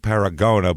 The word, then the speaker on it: Paragonah: paragona Utah where's paragona it's spelled like paragona but it's said paragona apparently that's what I've